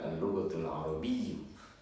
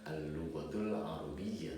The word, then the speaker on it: al-lughatul arabiyyah: Jadi tidak bisa saya sebutkan atau saya ucapkan al-lughatul arabiyyu ya, melainkan harus saya sebutkan al-lughatul arabiyyah tuh.